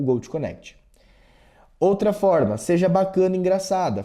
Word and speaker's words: GoTo Connect: Um grande exemplo é a pronúncia do Gold Connect. Por ser uma plataforma americana, ela vai seguir obviamente o a forma com que é falado o Gold Connect, ou seja, Go to Connect. Mas aí eu explico para ela a pronúncia que deve ser falada, o Go connect.